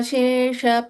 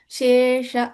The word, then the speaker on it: Shesha: Samhrita Shesh Pashanda. Shesha, that Purnakshara has to be pronounced.